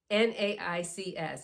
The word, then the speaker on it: NAICS: NAICS, N-A-I-C-S. You're going to hear this often. People pronounce it in different ways. I'm going to call it the NAICS code.